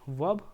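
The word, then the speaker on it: verb: बताओ आप लोग कि वर्ब को हम लोग वर्ब पढ़ेंगे या तो वर्ब पढ़ेंगे तो वर्ब नहीं पढ़ना है क्या पढ़ना है वर्ब पढ़ना है ठीक है आर साइलेंट होता है तो वर्ब का डेफिनेशन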